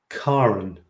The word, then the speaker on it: Karen: strange okay hang on my name is pronounced with car at the beginning not care it's apparently the norwegian pronunciation karen karen karen karen karen